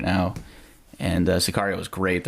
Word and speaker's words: Sicario: Siguro, anyone watch that? Loved it. Meant to. Meant to be really pretty. Yeah, You got- Sicario was one of my favorite movies.